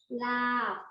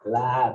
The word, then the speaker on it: larb: Lab. Lab. It's kind of a lab with a silent R.